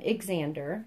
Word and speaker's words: Xander: And he's the Xander, but I named him Xander, so it's spelled with X-A-N-D-E-R, Xander, which I think is so cute.